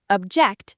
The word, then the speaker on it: object: Sentence three, object, stress on the second syllable, verb form meaning to disagree.